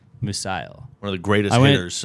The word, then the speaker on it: Musial: Musial.